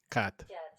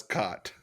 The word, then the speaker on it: Quatre: I would pronounce it like this: un, deux, trois, quatre. Cat. Cat. Cat. Yeah, Cat. that's how you say it.